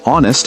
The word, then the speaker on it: honest: The word honest has a silent H.